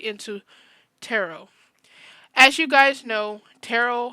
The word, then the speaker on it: tarot: image we are going to be talking about tarot that's how is actually pronounced not terot but hey I'm not the one to judge